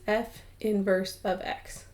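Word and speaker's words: f⁻¹(x): for naming the inverse so the way we pronounce this is we say that this is f inverse of x and again that negative 1 is not an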